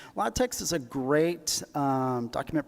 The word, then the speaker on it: LaTeX: formatting, uh, Lex, I know I called this LaTeX for a long time, but I guess the proper pronunciation is Lattex. Lot text is a great um document preparation system.